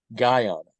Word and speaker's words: Guyana: the country of guyon I want to pronounce that very carefully not Ghana I actually have some interest in visiting Ghana Guyana specifically no interest and